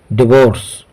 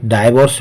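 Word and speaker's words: divorce: हैं आगे बढ़ते हैं डिवोर्स इसे डाइवोर्स भी प्रोनंसिएशन किया जाता है इसका अर्थ होता है तलाक देना या अलग करना दर्शको डावर्स के दोनों ही प्रन होते हैं पहला प्रोनंसिएशन है डाइवोर्स या कह सकते हैं डिवोर्स इसका अर्थ होता है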